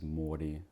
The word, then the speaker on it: Mordi: elements to it tell me your name and spell it for the camera sure my name is Morty that's m o r d i